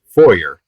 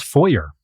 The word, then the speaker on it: foyer: Either pronunciation acceptable according to Oxford.